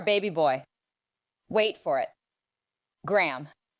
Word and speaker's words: Graham: Graham. Some people say Graham and then laugh. Or our more drunk friends would say Graham. Just one long syllable.